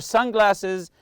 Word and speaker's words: sunglasses: first part keep your sunglasses and water bottle in easily accessible front front compartment sunglasses also the word Sun you have to stress the first part here some people like